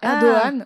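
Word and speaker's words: Erdoğan: Ahogan ça nous ser un chapeau à l'envers qui se prononce pas. Ah Erdogan.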